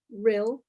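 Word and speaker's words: Rhyl: Oh, Rill, that would be good. Rill, how do I spell that?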